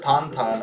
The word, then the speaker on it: Tintin: nope I'm taking inspiration from Tintin or tantan as it's pronounced um in some areas uh and I am